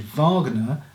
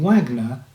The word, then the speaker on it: Wagner: like the composer richard wagner which if you don't know is spelt with a w but the germans pronounce w's as a v sound and i prefer to pronounce it that way than wagner because that puts me